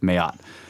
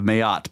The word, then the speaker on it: Mayotte: tiny island of Mayotte which is how I think I think it's pronounced that way ma y ou T te I'm just going with Mayotte positioned about halfway between